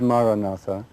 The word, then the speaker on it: Maranatha: you choose the word Maranatha say it in four syllables ma rah rah rah maranatha and say the word